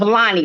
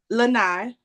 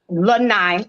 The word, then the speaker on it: Lanai: I'm going to do a little introduction of Lonnie, right? I'm saying it right? Lanai. Lanai.